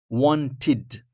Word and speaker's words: wanted: Wanted. That's the one, guys. Wanted. So wanted, wanted, as it's pronounced as id.